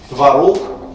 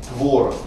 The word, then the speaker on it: творог: Но вот как раз в такую пару попадает произношение творог, старшая норма, и допускается творог.